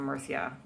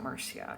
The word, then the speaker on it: Murcia: up the road from Murcia. It's not Murcia, it's Murcia.